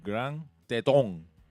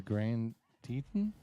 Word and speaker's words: Grand Teton: Which US state is home to Grand Tong National Park?